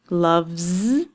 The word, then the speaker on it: loves: Love, loves. The V sound at the end of the word means that it will be a voiced sound and it will end with a Z.